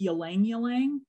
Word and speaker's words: ylang-ylang: Also, ylang-ylang, sometimes pronounced ylang-ylang.